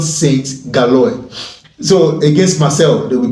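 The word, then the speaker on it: Saint-Gilloise: USG, let me pronounce it the way the French people will pronounce it. Union Saint Galoy.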